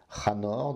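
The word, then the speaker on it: חנוך: Il s'agit de Enoch, Chanor dans la prononciation hébraïque et Enoch dans la prononciation grecque.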